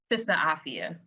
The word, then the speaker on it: Sista Afya: Um, and she is a community mental wellness change maker who leads Sister, let me make sure I'm pronouncing this right. Absolutely. Afia. Sister Afia.